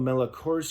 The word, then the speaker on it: Melchior: I also like the twist where Daniela Melchior's character, did I say her name right?